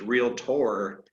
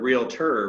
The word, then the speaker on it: Realtor: on me to uh pronounce it correctly which is real tour instead of real terror but uh you know